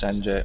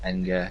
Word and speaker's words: Enge: Obviously, Young jumped into the Minardi, and Thomas Enge, or Enge, depending on where you're from in terms of how you pronounce his name, he drove in the Prost in that race.